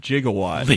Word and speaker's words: gigawatts: the controversy is that you actually can legally pronounce that word gigawatts it is not illegal that's good it's an altered court case it's an alternate pronunciation no no originally and so I think the their science advisor had pronounced it that way but in the actual script they spelled it like J I but but that's the